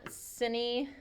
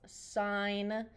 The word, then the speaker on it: sine: I mean, I don't get too twisted up about it, but it's not sinny or anything. It's not sin. It's sine, like literally like a stop sign.